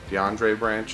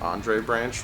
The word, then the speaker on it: Andre Branch: guys correct me because I say DeAndre branch instead of Andre branch which I'm gonna let